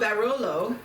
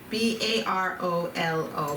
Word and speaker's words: Barolo: this one Baba da yes now it's called barolo b a r o l a o l